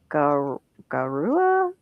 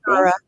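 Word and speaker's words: Gaura: Goua. It's g a u r a gar. How do you say it? Gar, I believe.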